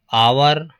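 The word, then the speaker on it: hour: आवर, आवर इसमें H silent है, okay यहाँ से पढ़ते हैं तो यहाँ पर भी एन का प्रयोग होगा।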